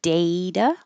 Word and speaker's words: data: There's two options. You can say data or data. Either one. They're both correct.